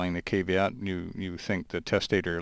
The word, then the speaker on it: caveat: from functioning okay and it's caveat not caveat Ian well I think either pronunciation works because i use both them okay but i just